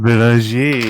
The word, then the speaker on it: Bellinger: Camille Bellinger. Hit me with it. Definitely not how you pronounce Camille Bellinger. that. Belanger, yeah.